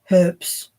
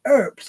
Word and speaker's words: herbs: can't hear I was sure that herbs were pronounced herbs because it looks like it right and then I can't remember who told me no no no it's herbs and I'm like what what are you talking